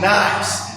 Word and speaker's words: gneiss: It's pronounced nice. G-N-E-I-S-S.